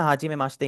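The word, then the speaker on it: はじめまして: Make sure that the ई इन माश्ते is silent. ठीक है? तो ये आपका सिमिलर साउंड करेगा माश्ते से। माश्ते। बीच वाला ई हट ही गया है।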